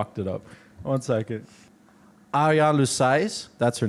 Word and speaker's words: Ariane Louis-Seize: Arian Lousai, that's her name.